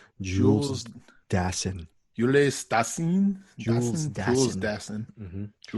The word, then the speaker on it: Jules Dassin: Jules Dassin. I'm giving you the correct pronunciation. Jules Dassin.